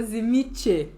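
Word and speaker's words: Tzimisce: Grande do Sul, por sua pronúncia correta é Zimiche.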